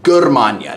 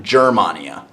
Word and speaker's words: Germania: G is going to be a hard G sound, so it's Germania, not Germania, Germania.